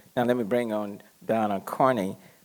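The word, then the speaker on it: Dana: Now let me bring on Donna Carney. It's spelled D-A-N-A. I think her parents kind of misspelled it, but the pronunciation is Donna.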